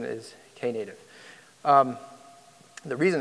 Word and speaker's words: Knative: is how it's pronounced Kay native okay there was in the early days some discussion of whether the Kay was silent or not but the correct pronunciation is Kay native the reason it's called